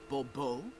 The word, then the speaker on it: Bobo: fine Monsieur de Bobo the emphasis falls on the last syllable Bobo mm-hmm see now I'd